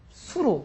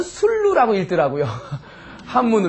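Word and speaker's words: 수루: 무슨 누각인 이제 아십니까 수로 수로 어떤 분은 술로라이프 그 망 본다는 뜻으로 읽을 땐 수라고 읽어야 됩니다 망보는 누각 수로요 아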